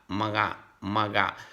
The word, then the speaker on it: mga: So you have to connect, maga. Like you are saying maga, okay, but you are stop. You have to mute the diphthong GA.